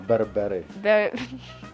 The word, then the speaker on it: berbere: Yeah, Berbere. Berbere. Berbere. This, the Berbere, Berbere spice. Berbere. Berbere spice. Woo. Yeah. Berbere. Berbere. Oh, it's kind of like rolling the R, but I can't roll my R's.